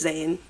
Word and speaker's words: Zayn: But yeah, it's Zane. Just Zane. I feel like I love like a one name. Just Yeah. One consonant, not consonant syllable.